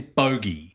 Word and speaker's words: Bogey: Because every time I hear Fogel. Bogey Lowenstein. it is Bogey. Bogey Lowenstein. Bogey. Because it was always changed between F and B.